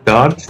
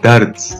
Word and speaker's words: Dards: It's not Dards, it's Dards.